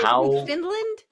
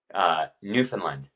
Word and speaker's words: Newfoundland: Because okay, that's how it's spelled. What is it? Newfoundland? Newfoundland.